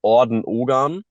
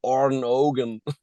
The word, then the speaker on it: Orden Ogan: The right way to pronounce this is Orden Ogan. Right. Um, the Germans always try to say it in an English way, so or American way. They say Orden Ogan, and the Americans always say Orden Ogan.